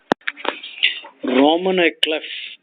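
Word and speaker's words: roman à clef: Roman éclef.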